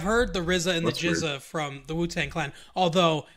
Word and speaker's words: GZA: There's another guy in the group called the Jizza. GZA is how he spells his name. Okay. My boss at work, she also likes the Wu-Tang Clan, but she thinks his name is pronounced Gizza.